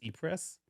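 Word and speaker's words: Ypres: the third battle of I've actually never known how to pronounce this as an American I've always called it yippers y PES but it might be likeis it's like how would you say in France Eis Eis I would say probably it's probably Eis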